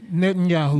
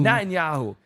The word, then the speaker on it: Netanyahu: can't how you say his name Netanyahu not in Yahoo to cuz the the